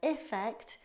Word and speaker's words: effect: Affect with an A is pronounced as if it's an uh, like in umbrella, whereas effect is pronounced with an I sound, like eat.